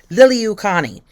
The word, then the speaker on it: Liliuokalani: Liliuokalani.